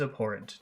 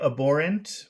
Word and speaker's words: abhorrent: Violence is abhorrent to her. violence is aborant to her. Okay. Uh, some people might say abborant with no H and some people might pronounce the H.